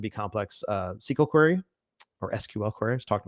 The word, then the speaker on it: SQL: You can basically just do a very simple, or it can be complex SQL query or SQL query. I was talking to my students today about how you pronounce it or reference that.